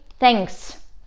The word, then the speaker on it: thanks: Кстати, в слове thanks вы можете услышать сразу два сложных звука. Первый звук – th, th, когда мы между зубами ставим язык – th, th, и продуваем его. А второй звук наш уже новый такой – nga, nga, thanks.